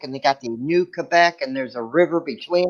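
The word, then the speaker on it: Québec: I'm saying it right they say it's not pronounced Quebec it's Quebec they told us that on our tour they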